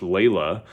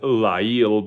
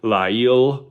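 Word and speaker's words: ליל: Um, but just like the the name that occasionally we'll see in English, Leila, uh, is is very similar to how you pronounce that, Leila. But we're going to go with Liel because that is the the root. So, if you want to say it with me, Liel means night.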